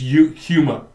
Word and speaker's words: Yuma: It's Yuma. It's like humor. It's spelled with a Y.